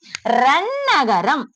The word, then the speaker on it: ரன்னகரம்: எந்த எழுத்துக்கு அப்புறம் இந்த ந வருது? ராவுக்கு அப்புறம் வருது. சோ இது எப்படி நம்ம சொல்லணும்? ரன்னகரம். சரிங்களா?